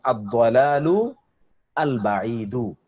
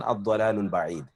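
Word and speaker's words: الضلال البعيد: আলাদা ভাবে উচ্চারণ হবে একসাথে উচ্চারণ হবে কিন্তু আমি অরিজিনাল উচ্চারণটা আপনাদের সামনে বললাম অরিজিনাল উচ্চারণটা কি আদলালু আল বাইদু এটাই তো অরজিনাল উচ্চারণ আপনি যখন এটাকে মিলাতে যাবেন তখনই বলবেন আদলালুল বাইদ আমরা সহজ করার জন্য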